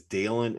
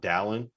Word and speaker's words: Dalen: but the fact that dale and terry's name is dalen and not dallin when we have like